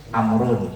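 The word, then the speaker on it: عمرو: Amar itu biasanya belakangnya ada wawu. Wawu ya. Amr bacanya Amrun.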